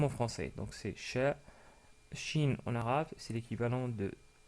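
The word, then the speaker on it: ش: En termes de prononciation, c'est aussi facile car c'est l'équivalent du son CH dans la langue française. Donc c'est exactement pareil. En anglais, on l'aurait écrit plutôt avec un SH.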